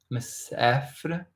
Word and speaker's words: مسافر: So it's like مسافر. Kind of in between sounds because we're wanting to visualize them, aren't we? مسافر. It's just مسافر. Sounds somewhere between an A and an E.